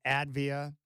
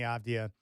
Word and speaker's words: Avdija: Man, I love Deni Avdija. And so much fun to watch. And fans, they may not know how to pronounce his last name. They call him Advia or whatever they say.